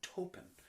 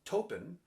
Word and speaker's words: Taupin: now if you're like why is he singing touken and not Taupin well token rhymes with Chopin there's not a lot of humor in this industry ladies and gentlemen music history not necessarily synonymous with like humor so we go for he was a his grandparents were a French descent so I think the AU would definitely be pronounced like an O so token or taupe